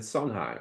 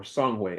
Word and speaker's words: Songhay: And as a result, they were able to build the great empires of Ghana, Mali, and Songhai, or Songhay, as it's pronounced in the original language.